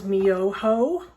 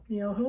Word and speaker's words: Myoho: So first syllable is Nam. The second, don't run away from me here. The second is Myoho. Myoho, making sure you can see.